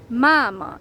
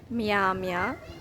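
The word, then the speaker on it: мама: so for example mama this um consonant is pronounced hard Mama it's not Miami because it would be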